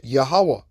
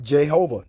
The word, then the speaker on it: Yahawah: His name is Yahawah, not Jehovah.